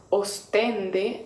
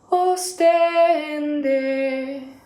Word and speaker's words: ostende: con la palabra ostende la palabra está centrado en la sílaba ctc en pero uno cuando lo va cantando aburrido tiende a centrarla en las ventanas y lava os entonces uno tiende a cantar ostende y lo que